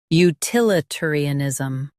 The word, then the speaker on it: utilitarianism: Stress til and keep ter light.